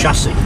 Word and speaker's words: chassis: Chassis. Chassis. Chassis. Chassis. Chassis. Chassis. I can't say it. Say it again. Chassis. Chassis. It's chassis, but you just don't say the last I know, that's what I can never say it.